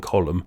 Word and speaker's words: column: silent M in mnemonic, a silent N in column, a silent O in